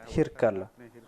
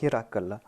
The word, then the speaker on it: Hirkal: Mais cette prononciation ne peut être acceptée dans la langue ourdou. Et puisque cette session est en langue ourdou, on va prononcer cela Hirkal. C'est ainsi que l'on prononce le nom de ce grand souverain.